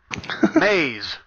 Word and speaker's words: Maze: Hell, now I'm even saying it wrong. How's it said, Brian? Pronounced? Nope, that's the wrong place. Oh, yeah, Sylvia's on top of it. It is pronounced Maze.